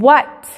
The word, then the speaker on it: white: tiempo estas reglas aplican cuando la w está antes de una h seguida por ya sea la a la e la ola y con sonido de vocal la h es muda como por ejemplo en